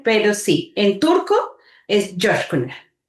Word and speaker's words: Coskuner: un apellido turco, la gente no lo sabe pronunciar, entonces me dicen Kuner, Josh Kuner, pero sí en turco es Josh Kuner. Josh Kuner y es o.